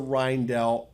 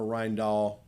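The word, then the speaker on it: Rijndael: was chosen was the rhinedell algorithm all right or reindoll i guess it's pronounced rhinedoll it's dutch which is uh named after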